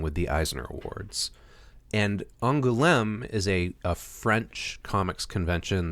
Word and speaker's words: Angoulême: Yeah, Angoulême, I believe, is how it's pronounced.